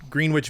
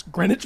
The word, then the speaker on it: Greenwich: You two met in Green Witch Village back in uh It's Greenwich Village.